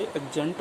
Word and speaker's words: adjunct: डी आ जाए, तो उस डी का प्रोनाउंसिएशन नहीं किया जाता।